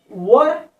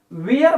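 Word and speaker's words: where: यहां पर कुछ लोग जो है कि इन चीजों को वर या वेयर बोलते हैं, लेकिन एक्चुअल जो है इसे हमें वर के नाम से यानी कि प्रोनाउंसिएशन करना चाहिए।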